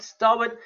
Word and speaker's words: starboard: an aircraft it's called it's actually pronounced very differently to what it's spelled it's called the starboard side starwood but it's actually spelt